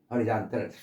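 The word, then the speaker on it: horizontal: 아이 허라이즌 명사 수평 그리고 수평 그럴 때는 허리라고 발음해요. 허라이가 아니라 허라이잔이 아니라 허리잔틀 수평 얼마나 멋있습니까?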